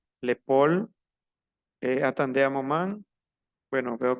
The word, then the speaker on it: épaule: es la nuca, l'épaule, la A y la U se pronuncia O, l'épaule, attendez un moment.